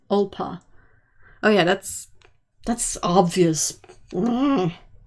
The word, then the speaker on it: Alba: I only learned this week ALBA, Scottish for Scotland, is pronounced Olpa.